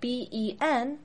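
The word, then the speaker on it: bēn: Now, in Pinyin, ben is spelled B-E-N, but you don't say Ben like the English name Benjamin. No. It's ben, not Ben. Don't let your English brain trick you into saying it wrong.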